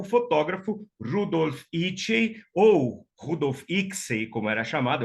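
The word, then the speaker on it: Icsey: Rudolf Itchey, ou Rudolf Ixey, como era chamado, eu aprendi a pronúncia correta com uma amiga pesquisadora húngara, né? Porque o Rudolf Itchey era húngaro, então ela dizia Rudolf Itchey, né?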